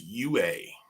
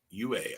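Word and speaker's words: Yue: who was Saka first girlfriend probably saying that name wrong too princess UA UA I learned how to pronounce that one princess UA she apparently turns into the moon at some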